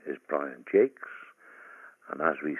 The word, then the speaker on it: Jacques: The name is Brian Jacques, and as we say, Jakes as in cakes, and oh, for goodness sakes. He pronounced it to rhyme with cakes.